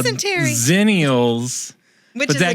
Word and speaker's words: Xennials: Zennials.